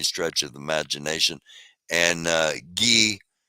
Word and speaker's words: Guy: of imagination and uh G uh which is spelled guy uh Filipe G Filipe